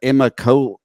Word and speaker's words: Immokalee: I'm not sure if I pronounce it right, but Immokalee.